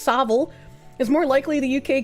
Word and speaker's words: Savile: Hey, considering Jimmy Seville, pronounced Savile, is more likely the UK government and the royals uh are wanting the groomer to do so.